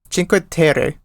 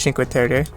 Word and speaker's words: Cinque Terre: Ci- Cinque Cinque Terre. I think you pronounce it that way.